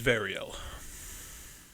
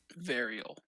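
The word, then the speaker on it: Variel: why my name is varial can you spell that v-a-r-i-e-l varial got it wait sorry what did i just spell i said i-e-l right yeah in relation to ariel you're not in this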